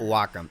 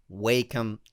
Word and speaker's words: Wacom: wocka wocka wocka wocka no no not welcome its Wakeham tablet so I just wanted